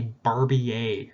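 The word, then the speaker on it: Barbier: are different in the barbie a reaction it's french so you don't pronounce the r okay so it's stable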